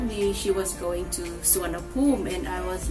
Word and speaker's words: Suvarnabhumi: That is how I learned that Suvarnabhumi, or the airport in Bangkok, is actually pronounced as Suvarnabhumi.